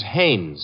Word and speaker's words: Haynes: No, not Hines. Haynes.